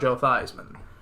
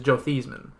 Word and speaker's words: Theismann: running for the Heisman he changed the pronunciation of his name to make his name more synonymous with the word Heisman that's